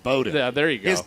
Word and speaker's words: Bowden: A lot of that was Bowen or Bowden, however you pronounce his name. And so for for me, spelled like Bowen, pronounced Bowden.